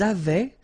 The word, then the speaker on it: avaient: Ils avaient, so remember, even if we've got this A-I-E-N-T, well, we don't pronounce it, or we don't pronounce this E-N-T, so we get avait, okay, phonetically.